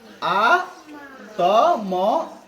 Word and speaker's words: আত্মা: সংস্কৃত উচ্চারণ নিয়ম অনুযায়ী যদি যুক্ত বর্ণকে সম্পূর্ণ উচ্চারণ করতে হয় তাহলে এটাকে সংস্কৃত উচ্চারণে কি বলতে হবে? আ ত ম আকার, আত্মা, ঠিক আছে, তাই না?